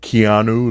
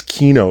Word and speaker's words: Kino: people's names correctly, because I've been called Keanu, like Keanu Reeves, Kato. Oh man, they beat the hell out of my name, but it's Kino, like a key, and no, Kino.